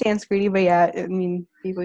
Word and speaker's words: Sanskriti: Did I pronounce that correctly? It's Sanskriti, but yeah, I mean, people usually find it.